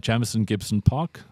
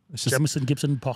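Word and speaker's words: Jamison Gibson-Park: I think if you look at the Irish team that's coming out for this tour, Jamison Gibson Park, is that how I say his name? Yep. Jamison Gibson Park.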